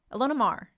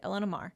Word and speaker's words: Ilona Maher: Do you like, you must know, Ilona Maher Yeah, that's how you say it. Elena Mar. No.